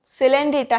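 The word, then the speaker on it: Coelenterata: उसके बाद से पूरी, पोरीफेरा, ठीक है, पूरी पोरीफेरा, कोल सिलेंड्रेटा या नाइडेरिया, सिलेंड्रेटा है इसका प्रोनाउंसिएशन, सिलेंड्रेटा या नाइडेरिया।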